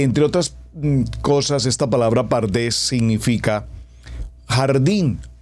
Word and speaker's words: pardés: palabra pardes que entre otras cosas esta palabra pardés significa jardín o huerto y cada una de